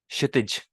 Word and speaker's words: क्षितिज: और अगर आप इसको सबसे पहले ले आओगे वर्ड में, तो ये जो क की साउंड होती है ये काइंड ऑफ साइलेंट हो जाती है, जैसे क्षत्रिय, क्षितिज। इन दो वर्ड्स में भी एक क पहले आ रहा है लेकिन हल्का सा साइलेंट हो गया।